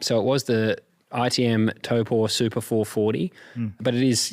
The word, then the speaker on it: Taupō: Taupō. Do you know how I remember how to say it correctly? Toe and a paw.